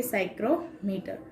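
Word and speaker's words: psychrometer: जो simple हाइग्रोमीटर है उसको और एक नाम से जाना जाता है तो कि साइक्रोमीटर, जिसमें पी साइलेंट है।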